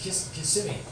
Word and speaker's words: Kissimmee: uh yeah Kissimmee and my sister goes look kiss me I go Kelly idiot it's Kissimmee and so you're making me say it right I said the old Indian it's just no it's kissing I'm like